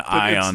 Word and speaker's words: Ian: Fucking Ion Ziering. I'm sorry, it's spelled.